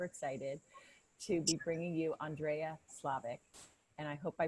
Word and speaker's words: Szlavik: And I'm super excited to be bringing you Andrea Szlavik. And I hope I pronounced your name right, hon.